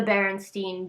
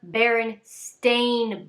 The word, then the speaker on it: Berenstain: the book is the berenstein bears and that's how everybody remembers it and how people pronounce it however it is called the baron stain bears with an a what and i can't